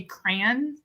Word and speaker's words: crayon: Like I don't pronounce the Y. I say crayon.